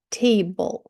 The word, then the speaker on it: table: ось тут цікаве дивіться слово table як ми його читаємо насправді ми читаємо T зовсім немає голосної або є але така